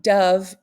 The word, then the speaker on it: dove: pronounced incorrectly given the cont context so um Dove is a pronunciation for D ove that's how they're showing